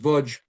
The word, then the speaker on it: Łódź: They had spent most of their lives in Lodz, pronounced Łódź, Poland.